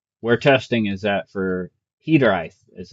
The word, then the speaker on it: Hiraeth: Um, so today I thought I would share with you guys uh kind of where testing is at for Hederite as it's pronounced.